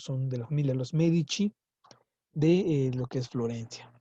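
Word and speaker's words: Medici: los medichi Aquí está lo mismo se pronuncia medichi aunque no tiene H aquí pero como es la c junto a una vocal son los medichi la familia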